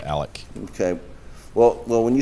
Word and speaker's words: Alex: looking for his financials he pronounces it Alec okay well well when